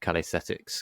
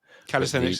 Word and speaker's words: calisthenics: that's got a good calesthetics kind of u that's the right I can never remember how you say it. Calisthenics is is right.